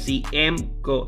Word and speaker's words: CMCO: Se escribe CMCO, rayita abajo, 23. Cienco, se pronuncia.